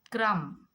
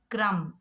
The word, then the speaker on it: crumb: Crumb. C-R, cr, a, b. Crumb. But here we don't pronounce B because when before B if you get M, so the B will become silent.